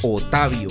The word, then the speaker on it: Otavio: Sí, Otavio, porque esa es la forma en que se pronuncia en paisa tradicional.